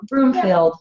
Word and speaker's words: Broomfield: Did I say it right? Broomfield. Yeah. No plural there.